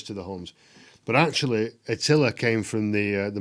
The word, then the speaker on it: Attila: attila so i've heard people pronounce it attila i think they're just trying to be clever then we all know it was that attila unless we can go back in time and ask his mom we're going to stick with attila thank you very much